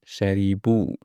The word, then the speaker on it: شربوا: For hum, you add waw and alif, but the alif is not sounded. We just put it to support waw. Okay, but we don't pronounce it really. We just pronounce the waw. We say hum sharibu.